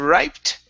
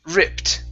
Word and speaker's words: ripped: there you go good this word here is ripped instead of riped it's ripped rip or rage uh ripped with the t sound at the end ripped ripped ripped okay